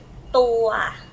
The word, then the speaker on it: ตัว: The sao and the ua, like this, together is tua.